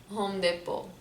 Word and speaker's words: Home Depot: imagine we would say home depot home depot it's like a mix between french and english like home we took the home from english because it's it's originally an english word word right but the po that you you have you have also depot and french it can be a french word as well so that's why we say home depot um okay now cars